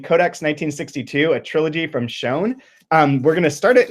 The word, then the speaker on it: Sjón: think the first step with this so it's pronounced shown the author's name is shown not sure okay let's mess it up the